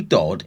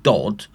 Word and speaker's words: Dodd: Todd or Dodd, sorry. I think I think it's pronounced Dodd, would continue to see this mysterious craft.